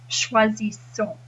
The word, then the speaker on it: choisissons: But then when you say choisissons, you have a Z sound at the beginning, but then an S sound at the end. So it goes choisissons.